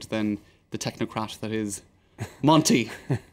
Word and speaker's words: Monti: the technocrat that is Monti, who just happens to rhyme with Smonti.